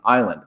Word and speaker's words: island: a German root and that's how we got a silent s in Island that s has never been pronounced so moving right on